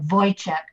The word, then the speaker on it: Wojcik: to uh miss wojcik is that the way you pronounce that oh you pronounce it voice kind of like voided chat i knew that i